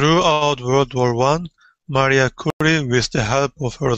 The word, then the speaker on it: Curie: has a different and her last name kurri I think is how I have heard it pronounced so uh radiography X